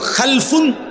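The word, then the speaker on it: خلف: generation দুই রকম হয় আরবিতে একটা হল খালফুন আরেকটা হল খালাফুন একই শব্দ শুধু উচ্চারণের মধ্যে একটু ভিন্নতা মাঝখানে একটা লাম আছে এই লামটার মধ্যে যদি সাকিন হয় তাইলে হল খালফুন আর যদি লামের মধ্যে জবর হয় তাহলে হল খালাফুন আরবি শব্দ খালফুন লামের মধ্যে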